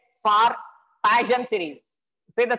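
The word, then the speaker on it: Paschen: These are called as Passion series or Passion pronunciation. P-A-S-C-H-E-N. Passion or Passion.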